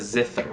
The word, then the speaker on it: zither: Best translation we have is a zither.